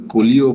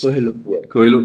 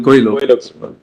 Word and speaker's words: Coelho: It arises out of the Colio case, which is expressly referred to your it lordship. arises out of? Colio case. Coelho. Coelho. But my learned friends repeatedly correct me on the pronunciation, on the Coelho case.